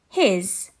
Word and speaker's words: his: a z sound has his the s sound makes a z sound his and her the e